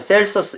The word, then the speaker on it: 켈수스: 자, 켈수스에 반대하여 8권짜리 이루어진 against 켈수스. 켈수스를 영어로 발음할 때는 셀서스 이렇게 번역합니다.